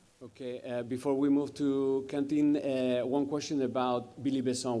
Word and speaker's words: Quentin: How do you want us to pronounce it? Most of the time, English people say Quentin, but in France we say Quentin.